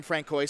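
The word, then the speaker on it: François: If you go to France, that's how they do it.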